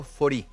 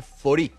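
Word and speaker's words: Faurie: nos queda Jorge Marcelo fori eh se pronuncia de esa manera pero se escribe fauri eh un apellido bien Francés fau pero se dice fori digo porque usted se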